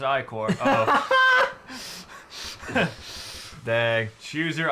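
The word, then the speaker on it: ichor: can fill it with magical eer that's pronounced iore oh dang choose your ey core wisely uh health and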